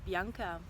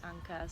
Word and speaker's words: Bianca: because unka is what my name is Bianca but kids don't really pronounce my name that way they actually pronounce it Uncas so I kind of